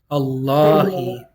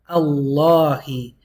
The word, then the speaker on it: اللهِ: Allah is the only time the lam is pronounced heavy.